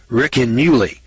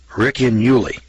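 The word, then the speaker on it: Ricinulei: It's called the Riccinuli. It's spelled R-I-C-I-N-U-L-E-I. Riccinuli.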